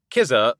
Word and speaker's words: Kiza: Kiza, pronounced K hi Z ah was a volunteer-run news source that came straight from the horse's mouth.